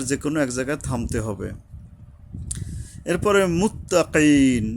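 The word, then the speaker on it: المتقين: এক জায়গায় থামতে এরপরে মুত্তাকিন এই কাফ কফ উচ্চারণে সাবধান হতে হবে। হলকের গোড়া থেকে শক্তভাবে আদায় হবে। আর ইয়ার উপরে এইযে মুত্তাকিন এই ইয়ার উপরে এখানে তিন আলিফ টানতে হবে।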